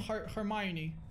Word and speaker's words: Hermione: none of the kids in school are named hermione is that how you pronounce it yeah ah it's a strange name